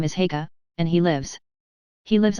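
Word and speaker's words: Haigha: His name is Heka. He pronounced it so as to rhyme with mayor.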